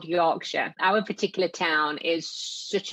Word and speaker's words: Yorkshire: It's spelled Yorkshire, but it's pronounced Yorkshire.